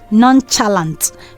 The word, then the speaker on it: nonchalant: Nonchalant. Most people say that, but the right pronunciation is nonchalant.